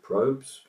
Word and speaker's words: Probz: current song and Mr Probz or probes if you pronounce it um and waves so